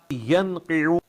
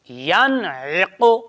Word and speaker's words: ينعق: ينقع بیٹے ینقع نہیں، ینعق. ينقع پہلے عین اس کے بعد قوف. ینعق ينقع نہیں، آپ پہلے ہجے جوڑ سنیں. یا زبر نون ین، عین زرعی، ینعی، قوف پیش قو، ینعق.